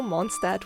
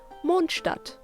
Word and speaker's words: Mondstadt: the main city itself monstart most people call it monstart which is a very good example of how english speakers adjust german words to their style of speaking in german we use